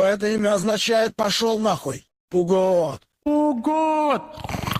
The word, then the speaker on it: Пугод: Ударение на О. С древнегреческого это имя означает «пошел нахуй». Пугот.